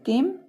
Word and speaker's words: came: Next है इसे केम, केम means आया, CAME, यहाँ पर भी ई का कोई उच्चारण नहीं किया, ई जो है साइलेंट है, और एम का उच्चारण किया जा रहा है।